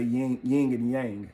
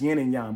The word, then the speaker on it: yin and yang: A lot of y'all say yin and yang, but the correct pronunciation is yin and yang.